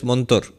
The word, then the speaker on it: mantra: Mantra, the Sanskrit word mantra. In colloquial Bengali, they will pronounce it as montor.